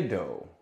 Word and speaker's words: doe: to the O and it sounds like its name oh oh all right I see a doe sadly Lee sat on